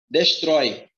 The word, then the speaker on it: destrói: Destrói. A sílaba mais forte é o trói. Então, aqui eu tenho uma oxítona.